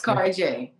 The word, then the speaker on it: Kari Jay: me today i have my sister is it cary jay or am i pronouncing it right carl it's carjay all right cary j so listen whenever i